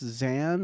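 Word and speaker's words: Xaan: That's Xan or X A. Yeah, it's pronounced Xan.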